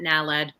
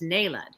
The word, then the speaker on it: naled: with diome the active ingredient is Ned I pronounced it naled because I read it but it's Ned and Ned comes with a whole host of